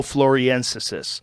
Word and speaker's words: floresiensis: Homo floriensis. Floriensis? That's how you say it.